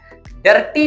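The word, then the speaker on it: dirty: डर्टी नहीं बोलना बल्कि बोलना है डर्टी। डर्टी। ओके? आर को साइलेंट कर देना है।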